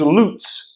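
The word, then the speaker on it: לץ: The Hebrew is lutz. I don't know the alphabet or the Hebrew alphabet enough, but that's how it's pronounced anyway. Lutz.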